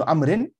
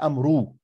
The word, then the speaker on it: عمرو: You see again عمرو, not أمرو. واو is silent.